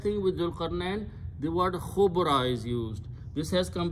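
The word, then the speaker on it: خبرا: So the word become khubran. When you stop, you pronounce khubra.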